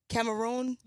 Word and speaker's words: Cameroon: to pronounce it yes I got it Cameroon a little bit okay it's good all right come on you gotta roll the tongue yeah but you're from